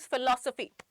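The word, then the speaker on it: philosophy: फिलो में आपका PH silent है, F से नहीं बना सकते, ठीक है।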